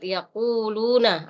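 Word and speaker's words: يَقُولُونَ: Nah, di sini kurang tadi penekanan dalam huruf qaf. Ya, summa yaquluna. Qa. Jadi beda ka dengan qa. Nah, kalau di sini biasa kitabah ka. Nah, ini. Kalau ini ku yaquluna qaqa.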